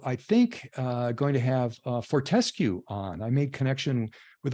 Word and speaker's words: Fortescue: So Savannah Rice from Fortescue. Sorry, let me get my camera on here. Well, thanks for, by the way, correcting my pronunciation, Fortescue.